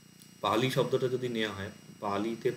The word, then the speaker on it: পালি: তো পালি শব্দটা যদি নেওয়া হয়, পালিতে পা হচ্ছে দীর্ঘস্বর, লি হচ্ছে হ্রস্বস্বর। এটা পালি এরকম উচ্চারণ হবে, পালি না। মানে পাতে একটু টান পড়লো, তারপর লিটা হ্রস্ব হলো।